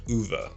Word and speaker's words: Ove: Now I may not still have that pronunciation completely correct, but I'm pretty sure it's a lot closer to UV in Swedish than it is to ove, which is the way I've been saying up to now.